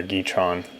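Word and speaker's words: Gateron: blue cherry MX blue Gaeta Ron stuff like that or geet wrong that's how it's pronounced so throw that out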